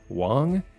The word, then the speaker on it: Wang: Wait, it's pronounced Wang?